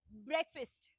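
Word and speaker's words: breakfast: That is ब्रेकफास्ट।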